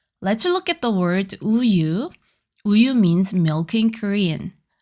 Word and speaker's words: 우유: Here doesn't make a sound. It just gives a place for the vowel to stand.